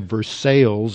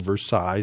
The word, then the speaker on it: Versailles: just gagged on that but they also have versales up there instead of Versailles so you just if you were educated you